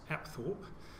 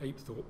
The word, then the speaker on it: Apethorpe: Apethorpe Palace as it's recently been renamed, sometimes pronounced Apethorpe. I'm going to stick with Apethorpe because it's the way I've been describing it